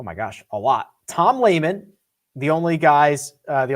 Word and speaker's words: Lehman: gosh a lot tom lehman the only guys uh the only guy on tour whose name almost who does rhyme with gaiman uh mark baldwin he's